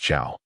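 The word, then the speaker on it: 草: This character is pronounced Chow, just like your father says, CEO, grass.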